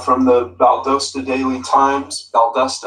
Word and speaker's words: Valdosta: Valdosta, I think, is the way that it's actually pronounced.